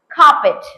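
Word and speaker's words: carpet: இங்க வந்து பாத்தீங்கன்னா இந்த கார்பெட் அப்படின்னு சொல்லும் போது அதனுடைய ஸ்பெல்லிங் CAR. ஆனா ஆர் வந்து இங்க அப்சல்யூட்லி சைலண்ட். ஆரை வந்து நம்ம ப்ரொனவுன்ஸ் பண்ண மாட்டோம். இன்னும் சொல்ல போனா நம்ம கார் அப்படின்னு சொல்றோம் இல்லைங்களா, நம்ம கார் four wheeler. So கார் சொல்றோம்ல, இதனுடைய actual pronunciation it இஸ் நாட் கார், இட் is only கார்.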